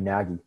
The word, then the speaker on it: Nagy: under a scholar named Gregory Nagy. But it's spelled N-A-G-Y.